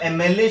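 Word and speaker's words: MLA: लेकिन जब एमएलए शब्द को प्रोनाउंस करेंगे तो पहले ए बोलना पड़ेगा।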